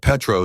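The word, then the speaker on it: Pétrus: The 2005 Petro is a remarkable vintage. She pronounced it correctly. Peter the silent, the vowels pure.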